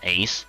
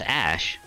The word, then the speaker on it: Aesc: would be called a ace which apparently I've now learned this actually pronounced Ash even though it's spelled aesc I I like saying